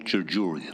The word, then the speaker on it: Jarjouri: Jarjouri. That's how I pronounce it. These are silent.